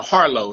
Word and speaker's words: Harleaux: oh sure it's uh harlow so it's almost like it's spelled like low at the end but just um spelled funny i tell people it's